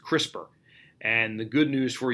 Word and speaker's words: CRISPR: pollen dramatic repeats and it's pronounced crispr and the good news